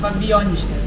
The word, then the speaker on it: Fabijoniškės: Yeah, Fabijoniškės. Fabijoniškės, okay. Very hard to pronounce.